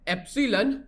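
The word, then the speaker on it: epsilon: तो income elasticity को denote किया जाता है एप्सीलन y के साथ। ठीक है? और इसका फार्मूला स्पेलिंग भी मैं आपको बता देता हूं।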